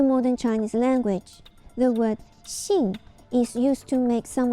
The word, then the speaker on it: 信: Chinese word for it the chance pronunciation of this word is she in ancient times this